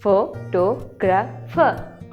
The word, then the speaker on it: photographer: Usually हम सब तकरीबन यही वर्ड यूज करते हैं, फोटोग्राफर. बट the correct pronunciation of this word is photographer. Is photographer.